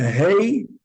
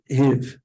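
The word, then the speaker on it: הוא: The word he in the Torah is written just like the word who, but we don't pronounce that vav because that vav has no nekuda. Ah, It's just a hey, and with the aleph at the end, right? It's pronounced he, not hiv, even though it has the vav there, but we don't pronounce it. So you're always going to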